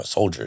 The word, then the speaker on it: soldier: I'm like, no, soldier, dude. Yeah. He's like, where's the J? I'm like, you're right. I don't know, but it's soldier. That's how you pronounce it.